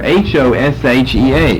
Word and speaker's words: Hoshea: Right here, H-O-S-H-E-A, Hoshea.